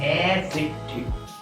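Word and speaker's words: adjective: এখানে ডি এর উচ্চারণটা সাইলেন্ট হবে, সাইলেন্ট উচ্চ থাকবে। এই ডি এর উচ্চারণ তোমাদের করতে হবে না, এটা অনেকেই জানো বিষয়টি, আবার অনেকে জানো।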